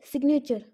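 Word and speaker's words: signature: जैसे सिग्नेचर, तो सिग्नेचर में भी जी साइलेंट नहीं है।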